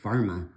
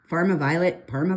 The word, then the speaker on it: Parma: Okay, so now it's 1008, which is your, is that pronounced Parma or Pharma? Parma Violet, like Parmesan cheese, I guess.